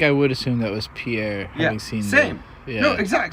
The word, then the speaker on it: Pierre: r I think I would assume that was Pierre yeah same yeah no exact same what is it pronounced uh in anywhere but South Dakota Pierre in South Dakota it's Pier here okay it's